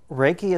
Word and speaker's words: Reiki: my master teacher ok Reiki is a combination of two syllables Ray which in Japan one of the most accepted meanings is universal and a key which is the same